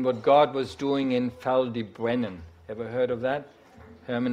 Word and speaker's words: Ffald y Brenin: God was doing in feldy Brennan ever heard of that Herrmann explained it's built in a funny way it's Welsh and it's pronounced a foul D Brennan it's in West South